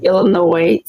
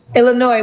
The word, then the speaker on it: Illinois: I'm from Illinois. Illinois with no s.